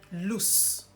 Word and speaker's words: loose: It almost ends with a Z, as opposed to the one with double O where you have loose. So it's the letter S.